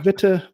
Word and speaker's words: Witte: went with so my last name is fair game it's technically bitter but you know you can whichever way is fine yeah so and so